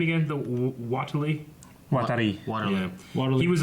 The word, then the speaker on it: Watari: Watari. Waterloo. Yeah. Waterloo. He was a famous inventor, and Watari.